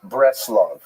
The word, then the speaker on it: Bratzlav: the town known as Bratzlav not to be confused with Bratislava and it's usually pronounced in Yiddish as breast. the Nerm breast love uh